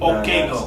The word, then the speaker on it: Okaigo: Okaigo.